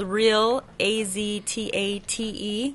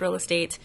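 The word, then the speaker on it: Real AZtate: name yeah it's spelled real a-z-t-a-t-e commonly pronounced real a-z tate but it's pronounced real estate and we are in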